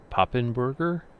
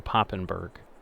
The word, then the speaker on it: Papenburger: I think it's pronounced Papenburger, because I think it's supposed to be in Germany, or in that area of the world.